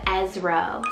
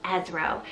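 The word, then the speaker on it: Ezro: one means verity or true then we have esro spell e zed zed r o esro and this one's an ezra variant meaning help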